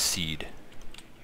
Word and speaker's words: SEAD: SEADs are, also, someone told me it's pronounced seed. But I like SEAD more, and so the military can go and they can deal with it.